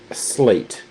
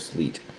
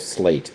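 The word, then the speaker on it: Sleat: Sound of slate is how how I'm hearing it pronounced from the people at Choreog.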